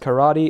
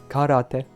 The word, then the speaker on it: karate: I know is that karate is not pronounced karate it's karate literally means empty hand in Japanese boom lore dump s